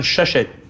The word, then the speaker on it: Shusett: Bannon and I think Ron shush that's the way you pronounce shusett wrote Alien to get